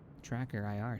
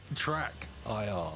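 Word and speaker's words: TrackIR: This makes me want Tracker IR so bad. Stop calling it that. Track IR. How do you say it properly? Track IR. Track IR.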